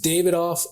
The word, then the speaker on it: Davidoff: The Davidoff of Geneva.